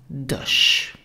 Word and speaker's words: dech: subject, becomes dich in the accusative case and pronounce it dich.